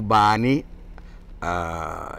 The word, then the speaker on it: bani: Sa scrive bani e sa pronuncia ban.